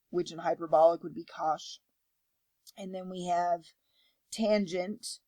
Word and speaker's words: cosh: we have cosine which and hyperbolic would be cosh and then we have tangent which in hyperbolic